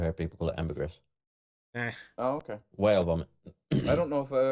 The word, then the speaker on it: ambergris: you say that but Amber Greece is actually one of the names as in the word amber plus the word Greece as in uh right